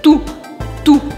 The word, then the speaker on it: toute: Com esse E no final, ele me faz pronunciar o T. Ou seja, eu não falo E, mas eu falo o T.